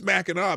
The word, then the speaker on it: Mackinac: when we get up there I know it's Mackinaw but it's the is the island called Mackinac or Mackinac because Mackinac spelled with the naw but the Mackinac is that